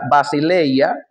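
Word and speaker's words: βασιλεία: La palabra reino, que en griego se pronuncia basileya, es con mucha probabilidad el núcleo del mensaje de Jesucristo en los evangelios.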